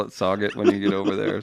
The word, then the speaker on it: Sauget: I want you to call it Sauget when you get over there. Somebody. Is it really Sauget? It's Sauget. It's a French pronunciation.